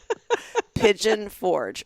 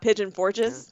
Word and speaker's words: Pigeon Forge: Pigeon Forge. Just one pigeon, no pigeons. Yeah. Oh, not Pigeon Forges?